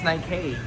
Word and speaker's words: Nike: lagi naming pinagawaan ni peng yung ano yung pronunciation nito ng ng Nike ng Nike. Ano bang tama? Nike o Nike? It's Nike.